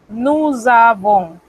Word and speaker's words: nous avons: Esa Z suena muy parecido a cuando los hermanos de la madre patria España pronuncian la Z.